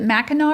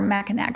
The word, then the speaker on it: Mackinac: hotel on Is it Mackinac or Mackinaw? Some people pronounce it with the C at the end and then we Mackinac Island.